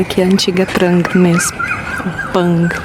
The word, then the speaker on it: Prang: Pang, né? Porque eles não pronunciam o R, deve ser Pang.